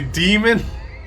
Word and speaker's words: daemon: I just want them to say demon. The AE is pronounced E, like Caesar. I just want them to say demon, please.